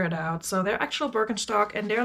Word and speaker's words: Birkenstock: them up because they're broken stock and yes that's how you pronounce it because they're german um i cannot tell